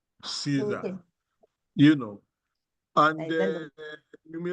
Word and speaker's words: CISA: Certified information system auditor popularly referred to as Caesar. Some people will say CIS. Uh-uh. It is pronounced Caesar, you know.